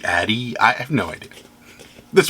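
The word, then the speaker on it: Ade: just i it's i i want to say aid and i think that's right but it could be addy i have no idea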